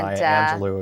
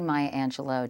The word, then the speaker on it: Maya Angelou: It's very Maya Angelou of you. Yeah, thank you. It's actually Maya Angelou. Do you know everyone says her name wrong?